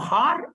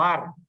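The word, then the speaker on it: הַר: Se puede pronunciar como Har o Ar.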